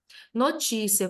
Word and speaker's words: notícia: Notícia, cuidado, essa palavra não é paroxítona terminada em ditongo, ela é proparoxítona e classificada como polissílaba.